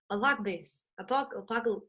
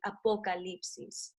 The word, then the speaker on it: Apocalipsis: But you gotta kind of like pronounce the O with the vowels, the Spanish vowels. So it's like apocalipsis.